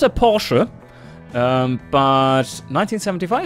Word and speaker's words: Porsche: Definitely not a Porsche. Or rather, as it's properly pronounced, Porsche. Yes. It's not a Porsche.